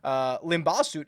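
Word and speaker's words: Limbhasut: KK Limbaugh Soot at the top at 10,700, Dylan Wu 10,400, Jeremy Paul 10,002, and Matt Picanso. I will also mispronounce a lot of names during this. Limbaugh Soot is correct, though.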